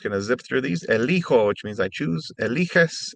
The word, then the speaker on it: elijo: And elegir becomes elijo in the yo form instead of eligo.